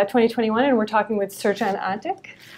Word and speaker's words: Srdjan: and we're talking with search eng is that how you pronounce your name that's how i pronounce it okay thank you who